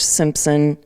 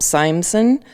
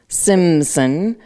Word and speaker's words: Simson: and that's at the George Simpson nope Simson Simson Auditorium sorry I butchered that at the Detroit